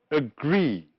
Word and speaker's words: agree: Which words are stressed on the first syllable? Yes, labor, moral, practice, and loyal. And the other words are stressed on the second syllable, that is, the words protect and agree.